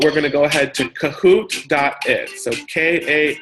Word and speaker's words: Kahoot: you want to go to compute dot it it's spelled ka h oo TI t on your phone we will continue there